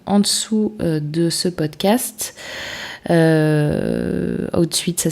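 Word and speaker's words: Hootsuite: Outsuite, ça s'écrit H-O-O-T-S-U-I-T-E et Buffer, ça s'écrit B-U-F-F-E-R.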